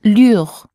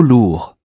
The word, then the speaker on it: lourd: And finally, c'est trop lourd. OU or U. There's an OU in lourd, so the sound should have been OU. C'est trop lourd.